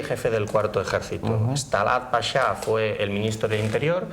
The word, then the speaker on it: pachá: el final de los pashas. Un inciso, en castellano se dice pasha. Lo que sucede es que tenemos la influencia del francés, que para pronunciar pasha escribe pachá. Claro.